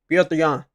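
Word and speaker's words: Petr Yan: Piotr Jan. That's how you say his name, bro. Like, for real, that's how you say his name, Piotr. You ain't saying it like that, bro. You saying that shit wrong.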